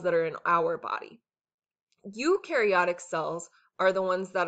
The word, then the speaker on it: eukaryotic: That's what eukaryotic has. So it rhymes with new, see you and new.